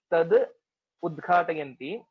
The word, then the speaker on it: तदुद्घाटयन्ति: So while pronouncing it, we will say it as dakshanadham no tadudghatayanti. So you don't have to Okay. You don't have to make a pause after tad udghatayanti. That's not required.